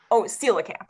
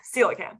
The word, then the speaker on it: coelacanth: You told me how to pronounce it, and now I can't pronounce it. Now I saw a question, and I'm scrolling. Coelacanth. Coelacanth.